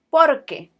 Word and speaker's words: porque: ¿Por qué? As opposed to porque. Why? Because? ¿Por qué? Porque. This pair is very important in the Spanish language, so make sure that you get the pronunciation right.